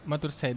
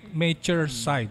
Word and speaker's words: Maturesid: Bacanya Matur Side aja sih, Matur Side. Mature Side. Matur Side aja sih aku bilangnya. Matur Side. Side. Matur berarti kayak matur suwun gitu.